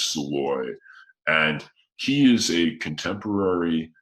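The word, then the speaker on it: Szalay: name is david uh it's hard to pronounce his hungarian last name but david soleil i think or salloy david soloy and yeah yeah i think it's i've heard it pronounced once before and i think it was sloy and he is a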